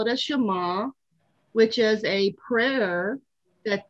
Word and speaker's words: Shema: I looked up the pronunciation, Shema.